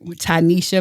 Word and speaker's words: Tinesha: Well, today I have the honor of speaking to Tanisha. Thank you for pronouncing my name correctly.